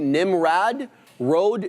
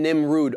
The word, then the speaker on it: Nimrod: It's closer to Nimrad Road than Nimrod.